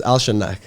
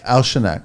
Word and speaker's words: Alshannaq: It's Alshannaq. Alshannaq, right? Yeah. And Safe. Yes. But it's spelled S-E-A-F, right?